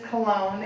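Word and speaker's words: Colón: for Christopher Columbus and it is Cologne and please please please please please please please put the accent on the second go otherwise you have a colon so you said when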